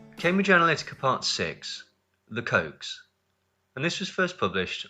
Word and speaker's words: Koch: Rather, their name is pronounced Koch like the sweet, delicious, sugary, zesty, life-affirming product popular in America and the rest of the world.